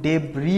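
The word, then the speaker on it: debris: object ডেব্রি এটা কিন্তু ডেব্রি উচ্চারণ এটা এস টা উচ্চারণ হবে না এটা হচ্ছে তলানি বলতেছে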